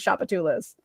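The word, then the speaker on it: Tchoupitoulas: Like I just asked the Uber driver and they told me it was Shapatulas.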